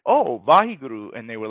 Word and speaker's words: Vaheguru: And so Vaheguru is consisted of four syllables. Vaheguru, a wonderful, so Vahi, a wonderful light that illuminates the darkness.